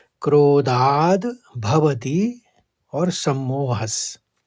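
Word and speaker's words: क्रोधाद्: में दो शब्द है क्रोधाद भवती और सम्मोहस ये क्रोधाद में ध के ऊपर आघात था तो पहले द का उच्चारण होगा फिर भवती निकलेगा और सम्मोहस में विसर्ग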